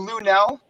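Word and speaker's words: Luenell: Someone named Lunel. It's spelled L-U-E-N.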